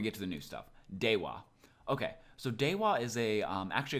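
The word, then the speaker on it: では: So when you're reading this, make sure you read it as dewa, not deha. Like I said in the first lesson, if wa or the ha hiragana is a particle, then it's pronounced as wa.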